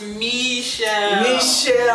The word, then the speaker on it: Michelle: It's pronounced Michelle.